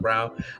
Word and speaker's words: Braun: so party wesley um christian brown fell braun but christian brown like he's pronounced brown um he seems like